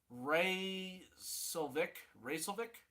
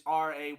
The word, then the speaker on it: Raycevick: Ray Silvic? I don't know how to say it correctly. It's Raycevick.